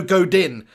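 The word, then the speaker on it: Godín: tom says who's godan i know godin i think it's actually pronounced godan uh to be honest with you peeping tom i know what you're saying there it's belle godin but i think it's go down correct me if i'm wrong but i think it's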